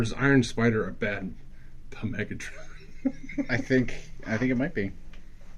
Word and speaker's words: Megatron: The P is silent, by the way. Megatron?